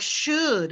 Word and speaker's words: should: final e correct um in a word like should my students always try to pronounce that l it's that l is silent like in the word